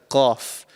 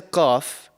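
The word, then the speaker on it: قاف: So the letter Qaf is actually pronounced from the farthest part of your mouth. So right at the back of your mouth, just before the throat.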